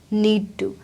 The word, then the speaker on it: need to: Pronounce करा need to, need to, need to। टी बहुत ही subtle हो गया साउंड, उसको बहुत सॉफ्ट कर दिया है।